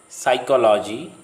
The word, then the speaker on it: psychology: If a word starts with PS, PN, then the P remains silent, as in the following words: psyche, psychology, pneumonia, pneumatic.